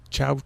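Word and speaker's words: ciao: has a theme of Chow Chow. That's not a dog. The first chow is spelled C-I-A-O as an Italian word for goodbye or something like that.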